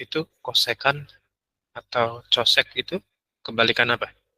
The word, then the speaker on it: kosekan: Kosek itu bacanya kosekan.